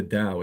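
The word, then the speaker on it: Tao: It's the Dao. It's spelled T AO. Uh the the Dao De Cheng, but it's it's not with a D. It's with a T, but it's pronounced as D.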